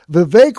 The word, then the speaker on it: Vivek: Vivek rhymes with cake was the runaway winner in this category.